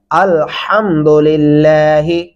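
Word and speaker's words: الحمد لله: کتنا بدل جاتا ہے الحمد پڑھنے سے۔ درست تلفظ کیا ہے؟ الحمدللہ۔ آگے چلیں گے، را زبر با، را، با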